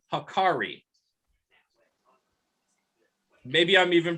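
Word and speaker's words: hákarl: It's called hakari. Maybe I'm even pronouncing it incorrectly. It's H-A with a little line over it. K-A-R-R-L. Hakaro? Hakaro, yeah.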